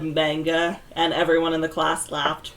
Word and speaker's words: manga: Wait, is it not manga? It's manga. There is no A sound.